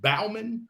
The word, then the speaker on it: Bauman: off it's um bow but is it Bauman yes you got it okay just want to